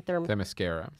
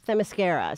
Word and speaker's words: Themyscira: Themyscira. Themyscira.